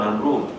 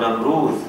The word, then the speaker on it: Namrud: surah Al-Baqarah, kisah tentang Namrud ataupun Namrud. Ada dua cara bacaan, Namrud ataupun Namrud, Dal ataupun Zal, iaitu seorang raja yang sangat zalim mengaku diri sebagai Tuhan.